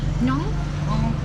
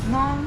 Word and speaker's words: ngon: How do you say yummy? Yummy? Nong? Nong? Ngon. Nong? Ngon. Nong. Ngon. Nong. Nong.